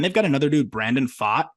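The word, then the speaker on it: Pfaadt: lucky and then they've got another dude Brandon fought it's spelled p-f-a-a-d-t and he is shoving in AAA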